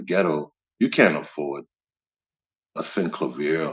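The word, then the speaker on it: Synclavier: a sin clavier I used to always uh mispronounce that that keyboard I used to call it sin clavia but I learned all these years I've been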